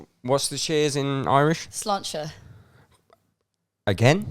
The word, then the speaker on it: sláinte: Sláinte. Again? Sláinte.